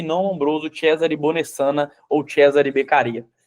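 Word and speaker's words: Cesare Beccaria: ó aí eu até coloquei a pronúncia aqui viu Cesare becaria para você não dar ONB I falar cesárea becara Igual eu falei minha vida inteira o Carara aí Alguns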